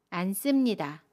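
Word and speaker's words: 앉습니다: 안 씁니다는 안 씁니다 라고 발음해요. 겹받침 니은 지읒 중에 첫 번째 받침 니은으로 발음합니다. 그래서 안으로 발음하고요. 습은 씀으로 발음합니다. 안 씁니다.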